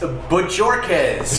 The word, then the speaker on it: Bajorquez: James Bajorquez. Well, yes, the J is silent.